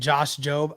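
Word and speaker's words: Josh Jobe: Oh, the E is silent and Josh Job.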